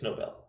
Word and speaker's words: Novell: Spelled like novel, but it's Novell.